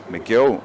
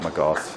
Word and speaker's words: McGill: And Niall McGill is telling me that it's not McGough. It's Ciara McGill is the pronunciation.